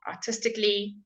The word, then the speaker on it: artistically: So some of the silent letters are when you have a C-A-L-L-Y. Artistically, if you want to repeat after me, that'll be really good because it'll obviously improve your pronunciation.